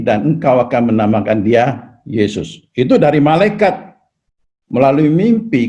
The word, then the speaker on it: 耶穌: Ya ini bacanya ye ya, ye ya. Su bacanya Yesu. Ya di bagian selatan sini suka baca ye ya. Tapi ya nggak apa-apa lah ya. Yesu ya, Yesu.